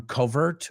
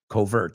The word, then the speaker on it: covert: depende de, primarily on covert means. Covert. He pronounces it a little bit in like a covert, he says. It's, I guess it's that New England accent.